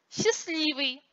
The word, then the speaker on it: счастливый: Согласные «д», «т» среди других согласных между гласными не произносятся. Счастливый, лестница.